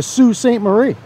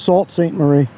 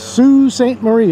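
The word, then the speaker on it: Sault Ste. Marie: there watchmen what's up what's happening welcome to sue st marie until we got here i thought it was salt saint marie if you look up how it's spelled but it's sue st marie is the way they pronounce it and uh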